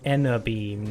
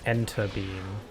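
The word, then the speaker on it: Enerbeam: I'm still getting to grips with the fact that it's pronounced Enna Beam, not Enter Beam.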